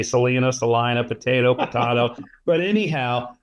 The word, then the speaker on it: Salina: Salina, Salina. I didn't want to mispronounce it, say Salina, potato.